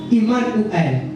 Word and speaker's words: Emmanuel: ngabi ok Emmanuel abi abi sosi ko to prononcer Emmanuel te Toponosaka, Iman ou elle.